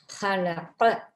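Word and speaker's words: خلق: ஹலக இது ஹா உச்சரிக்கணும். நொக்கத்தை வந்தால் ஹா.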